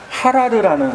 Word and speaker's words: 하라르: 에티오피아의 커피 산지가 있는데 그 산지 이름이 바로 하라르라는 산지예요. 들어보셨죠? 커피의 하라라고 발음을 하기도 하고 하라르라고 발음을 하기도 해요.